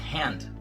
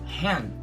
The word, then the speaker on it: hand: Você vai ouvir com muito mais frequência o hand. E lembrando que nesse caso, hand também não se pronuncia o D, tá?